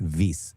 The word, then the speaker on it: Wyss: It's actually pronounced Wyss, like Hans-Jörg Wyss.